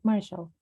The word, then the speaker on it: martial: say this work marshall you say it like marshall martial arts good thank you okay